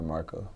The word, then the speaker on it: Marqo: your stage name how do you pronounce your stage name Rasta Marco Marco woody q do people ever mispronounce it